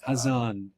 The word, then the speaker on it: Hazan: Hazan.